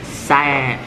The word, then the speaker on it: Savyu: Nó tên là Save, tôi mới đọc đúng nha.